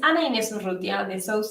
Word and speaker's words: Ana Inés: so kind um so well my name is Anna Anderson this is how you say my name uh